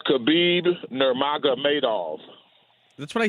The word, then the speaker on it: Khabib Nurmagomedov: here I'm having a hard time person it's khabib nurmagomedov that's what I said to you that's nice